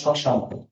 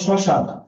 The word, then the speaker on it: শ্মশান: যেমন শ্মশান, তার অবশ্যই সাথে ম আছে, সকল স্বরের উচ্চারণ তার অবশ্য ম চলে যাবে, ময়ের উচ্চারণ যেহেতু হচ্ছে না, চন্দ্রবিন্দু হয়ে যাবে। তাহলে ম যার সাথে যুক্ত তার উপর চন্দ্রবিন্দু হয়ে যাবে, শ্মশান।